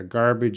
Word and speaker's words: garbage: Yeah, garbage is like garage, different G's.